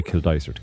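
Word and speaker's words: Kildysart: So if anyone's talking to you, they'll say Kill Daisert.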